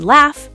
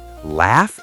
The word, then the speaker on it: laugh: So sometimes gh sounds like f like in laugh tough rough enough. Wait, laugh is laugh.